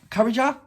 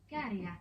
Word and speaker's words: Käärijä: Käärijä. Käärijä. Rapper. That's what it says. In English it says rapper. Käärijä. Okay. What did I say? Käärijä? Okay, so you don't pronounce the J.